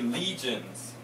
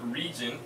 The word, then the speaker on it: legion: Okay, legions. Now make sure you pronounce this legion, not region.